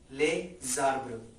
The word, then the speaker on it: les arbres: The next is les arbres, and again, yes, we have to make a link here, as it is consonant S and then vowel. A consonant is being followed by a vowel, so the sound or the pronunciation of this noun will change. It will be les arbres, les arbres.